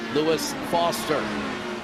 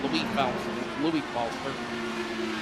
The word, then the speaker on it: Louis Foster: Lewis Foster, or Louis Foster, actually, if you want to say it right, it's Louis Foster.